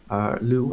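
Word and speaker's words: Lugh: is Lu ex champion Lou or Lou however you prefer prefer to pronounce on me I will be pronouncing me Lou it spelled Lu Zhi even though it's ugh which is just confusing but okay he was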